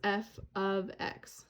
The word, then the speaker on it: f(x): notation uses this little guy right here we pronounce this as f of x so i have a random for you here